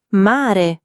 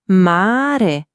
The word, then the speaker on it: mare: Mare, mare. Non mare come in inglese, ma più morbido.